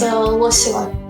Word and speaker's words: Loseva: Hi, it's Loseva. Loseva.